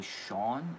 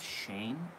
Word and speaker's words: Shane: pronouncing people's names wrong people always call me Shawn instead of Shane it's happened every day